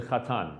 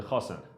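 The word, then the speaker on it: chatan: is the bride yeah the term for the groom is the khatan the khasen yeah sorry my ashkenazi pronunciation yeah the uh the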